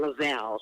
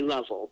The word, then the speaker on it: Lovell: So I started to pronounce it properly because it's actually a French background. It's Black French, so it's actually Lovell. That's the correct pronunciation of my name.